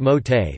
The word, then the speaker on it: Mauthe: cheesecake recipe from the Mothi pronounced Mote family of Macomb, Mississippi who operate the Progress Milk Barn, nearly destroyed by Hurricane Katrina.